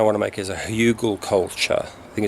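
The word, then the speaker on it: Hügelkultur: Hugelkultur. Hugelkultur. What is it? Hugelkultur. Hugelkultur. Hügel.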